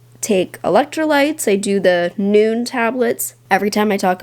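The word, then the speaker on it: Nuun: about how I take electrolytes I do the noon tablets every time I talk about it somebody asks noon tablet is spelled n-u-u-n you can find them on Amazon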